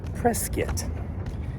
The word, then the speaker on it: Prescott: North of here, there is a little town, tourist town close to where I live that's called Prescuit. It's like biscuit without the gravy.